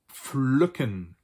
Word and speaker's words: pflücken: And the last one is an agricultural term, usually used in an agricultural term, and that is pflücken.